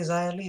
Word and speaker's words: Xia Li: So apparently an X now equals a Z. When they say Xia Li, so I go Xia Li. But anyways, these two will battle at Sunday. Yeah, so Xia Li attacked Mercedes Martinez, but